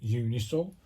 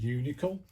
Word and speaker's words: Uncial: this correctly it's called unisol Uh I've been calling it unical it's actually unisol um let me get the